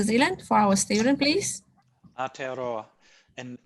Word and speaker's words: Aotearoa: Can I ask you, to pronounce the Maori name of New Zealand for our student, please? Aotearoa.